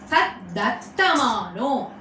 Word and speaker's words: Taddattamano: See the pronunciation. Tat dat. Tat dattamano.